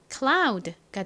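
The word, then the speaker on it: cloud: 한 번 더 쓰고요 유는 아 소리가 나니까 연결하면 클라가 되겠죠 끝에는 드 소리가 나서 읽어 보면 클라우드가 됩니다 클라우드의 의미가 뭐였죠 구름을 의미하는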